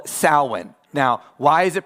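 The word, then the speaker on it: Samhain: No, because the the fundamentalist strikes back and says, "But have you ever heard of Sam Hayne?" No, that's not how you say it. This is called sin.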